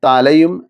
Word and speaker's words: ط: നാവിൻ്റെ തലയും മേലെ മുൻപല്ലുകളുടെ മുരടും. തോ. എന്നാൽ ഈ ൻ്റെ പൂർണ്ണമായ ഉച്ചാരണം ലഭ്യമാകണമെങ്കിൽ സിഫത്ത് കൂടി ചേർക്കണം.